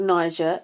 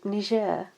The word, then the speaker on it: Niger: It's not pronounced Niger, it's called Niger.